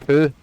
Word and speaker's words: Pugh: It's pronounced Pooh.